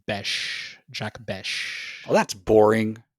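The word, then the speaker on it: Bech: Um, I was on the Raiders Reddit thread and it is pronounced Bes.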